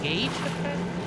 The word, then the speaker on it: gauge: be aware of that is it pronounced Gage it's pronounced Gage hey good day to